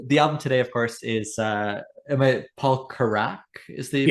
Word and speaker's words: Carrack: The album today, of course, is Paul Carrack is the pronunciation, and his greatest hits compilation.